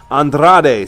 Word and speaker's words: Andrade: name if you can't say it right it's Andrade C anonymous it's very easy very easy to